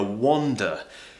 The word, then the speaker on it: wander: a small walk okay and then we have these two different vowel sounds which make the difference between the two words wonder uh wander or now the second